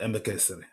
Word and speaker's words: Emekesiri: Please correct me if I'm not pronouncing your name right. It's Mr. Emekesiri, right? Emekesiri. Okay, Mr. Emekesiri.